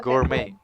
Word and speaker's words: gourmet: the trick is the silent word go but pronounced as gourmet yes okay so per moving on to you